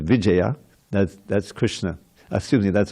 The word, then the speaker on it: Vijaya: Vijaya, you know, we all call him Vijay, but his real official pronunciation is Vijaya.